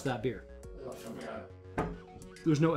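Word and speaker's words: Éphémère: Ephemere. There's no L. Ephemere? Ephemere. Ephemere. It's okay. Sorry, I thought there was an L apostrophe, but there isn't.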